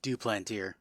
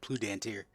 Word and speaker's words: Duplantier: Listen to my pronunciation. John Duplantier. I said Plutantier.